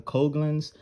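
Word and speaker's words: Coghlan's: a coke i've got you pronounce this i think it's a coglins folding shovel and this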